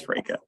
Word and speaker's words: Fracca: And I said Fracca before, and I'm sorry, that's not how you pronounce it. It is Liz Fracca.